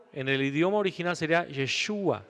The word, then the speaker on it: Yeshua: Lo más acercado en el idioma original sería Yeshua, lo más acercado. No podemos decir que así es, porque tal vez se pronunciaba un tanto distinto.